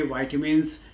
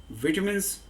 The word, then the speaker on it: vitamins: तो हम चर्चा करेंगे वाइटामिन्स, विटामिन्स या विटामिन्स के बारे में। वाइटामिन्स अमेरिकन प्रोनाउंसिएशन है, विटामिन्स ब्रिटिश प्रोनाउंसिएशन है और विटामिन्स या विटामिन हमारा अपना इंडियन प्रोनाउंसिएशन है।